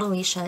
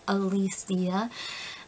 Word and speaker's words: Alicia: first name always mispronounce it's always dead Alicia it's not Alicia is Elysia and raised yeah that's